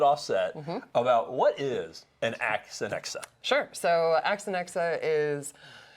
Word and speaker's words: AXANEXA: strum this morning we have Kelly Carpenter from Ax and XA I think I got that right you did